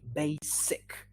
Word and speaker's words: basic: one is a yeah we say basic with an s basic okay but let's look